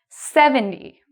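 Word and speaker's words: seventy: 70. Again, stress is on the first part, and I say the second part quick.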